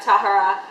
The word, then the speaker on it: Tahereh: I know a lot of people say Tahereh. Somebody help me out. Somebody please pronunciate this right. Tahereh is how they pronounce it in the audiobook.